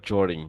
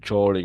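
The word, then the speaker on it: during: evidence of structure to house them ডিউরিং ডিউরিং উচ্চারণ কিন্তু হয় জরিং এটা খেয়াল করেন উচ্চারণ ডিফেন্ট জরিং বলবে জরিং মানে কোন কিছু সময়ে কোন ঋতুর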